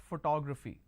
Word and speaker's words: photography: the word photography here it's actually pronounced that photography now how many consonants do I have here I have per sorry p h t g r a p h y these are the consonants what are the walls I have o then I have o again then I have a so o o a okay now if I have to break it into syllables I pronounce this as for 2 grab Phi how many how many